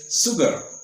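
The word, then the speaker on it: sugar: this word and से शगर यू ल ल यू ल लफ एट हिम और हर बट रंग हु है टोल्ड हिम और हर ट द सिंगल लेटर सा रिप्रेजेंट द साउंड श इफ नोबडी है टोल्ड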